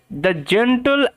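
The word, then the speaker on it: gentle: দা story কি বলছে জেন্টল and week জেন্টল means ভদ্র এই যে টি এল ই এটার উচ্চারণটা টিল টিল টিল এরকম ভাবে হয় আপনাদের নিশ্চয়ই মনে আছে টিল জেন টাল নয় জেন্টল জেন্টল ভদ্র এন্ড উইক ই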